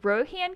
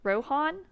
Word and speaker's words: Rohan: No, it's like Han. Okay. And okay, I see. I'm probably one of those people who's like Rohan, but it's Han. So is Rohan? Is that correct? Rohan?